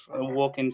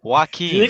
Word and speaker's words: Joaquin: it again, and that movie is the Joker, Walking Phoenix, 2019. Did Yeah, you I say saw it on the Woking cinema. Phoenix? I don't know how to say his name. Joaquin.